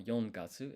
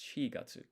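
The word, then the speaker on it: 四月: So it's not yongatsu, it's shigatsu.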